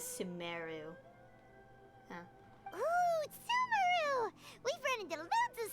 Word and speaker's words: Sumeru: go to sumaru sumaru i'll keep pronouncing it em emphasizing it so i'm pronouncing as sumeru we've run into loads